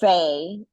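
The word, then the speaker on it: Pheigh: So if you have not connected already with Faye Cruz, and Faye is spelled P-H-E-I-G-H, like how we would spell Lee, like a girl's version of Lee.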